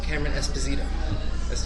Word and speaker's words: Cameron Esposito: Today I'm joined by the wonderful Cameron Esposito. Am I pronouncing that right?